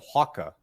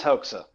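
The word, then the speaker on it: Hoxha: in that area so I always pronounced it hawka who is is that incorrect oh no it is HOA hold on HOA okay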